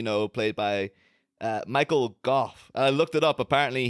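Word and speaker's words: Gough: played by uh Michael Goff I looked it up apparently he says his name is pronounced like cough so it's Michael Michael Goff go okay yeah yeah I was going to say Alfred Goff but Michael goof um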